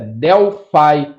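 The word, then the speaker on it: Delphi: para escutar pronúncia e a pronúncia correta é delfi e significa Delfos mas Python é Python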